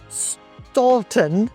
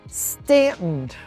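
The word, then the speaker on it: Staunton: Everybody often thinks it's pronounced Stalton. Stuntton, but it is Stanton.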